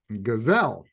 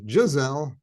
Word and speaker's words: Giselle: his former dance partner, Gazelle, which I know it's pronounced Giselle, but I like to say Gazelle.